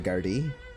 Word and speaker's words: Gardaí: The way they spell guards looks like it's the Gardaí, which actually is the way they pronounce in Ireland. It's G-A R-D-A. It looks like Garda, but you actually pronounce it the Gardaí, which is just the Irish police.